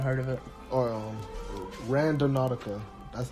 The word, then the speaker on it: Randonautica: of it or um random nautica that's how you pronounce it it's kind of like random and nautical put together which opposed or supposedly